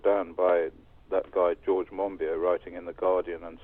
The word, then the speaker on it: Monbiot: Well, I think he calls it Monbiot. Not Monbiot.